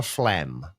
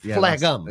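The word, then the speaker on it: phlegm: Why the hell is f Do you know how to spell flem?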